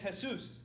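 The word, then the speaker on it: Jesús: try this again um Jesus where is Jesus at my name is su are you trippin you must need you this are you ready to go to heaven huh huh see see but my name is has soos you better check your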